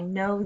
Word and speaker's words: know: There's a silent letter in that one.